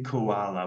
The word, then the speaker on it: koala: Yeah, you will you will hear koala with a schwa sound as the second sound there.